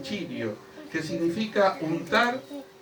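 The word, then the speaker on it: χρίω: Dice la palabra griega del Nuevo Testamento, ungir, es chirio, se pronuncia así chirio, que significa untar o frotar.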